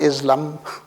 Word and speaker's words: Islam: Islam as the religion, pronounced as Islam, not Islam. It's a sound, like the German two S's rather than one S. And the A as the R in all languages except English. Okay. So it's Islam.